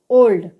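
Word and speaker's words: old: इसी प्रकार से ओ एल डी, तो ओ के बाद में क्या आ रहा है, एल आ रहा है, तो इस कंडीशन में ओ का उच्चारण क्या होगा, ओ होगा। ओ एल डी को हम क्या कहेंगे, ओल्ड।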